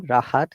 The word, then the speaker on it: Rahat: But if a word starts with letter R, like my name, Rahat, you must pronounce it.